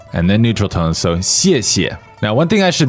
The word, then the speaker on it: 谢谢: All right, now that's a 4th tone and then a neutral tone. So you'll notice that we hit the first syllable a little harder, right? That's right. 谢谢，谢谢。 And the second syllable is a little softer.